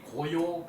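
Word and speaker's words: 皋陶: 하는 경우가 많았어요 그래서이 고요 그 언덕에서 도자기 굽던 사람 가 봐요 도자기도 그런데 도자기 도를 이름으로 할 때는 요라고 읽어요 요라고이 고요는 저기 그 이제 요임금의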